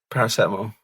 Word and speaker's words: paracetamol: You keep pronouncing stuff wrong. You've just said paracetamol is paracetamol. Steve, what's the definitive on this, please? Paracetamol. Thank you, Steve. You've answered that correctly.